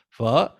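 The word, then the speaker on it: phở: butcher the pronunciation of pho. It's pho because it's you put that question mark over the O, and it makes it sound like a pho, like you go up at the end.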